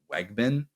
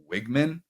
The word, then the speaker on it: Weigman: to Fowler continue to mispronounce his last name as Wegman when it's wigman Herby and Holly row